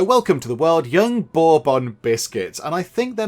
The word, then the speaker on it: Bourbon: They're very, very nice, but I think you pronounce that Bourbon. And I did ask Mrs. Penge. I went and asked, and she sort of confirmed that and said, yeah, I think it's Bourbon.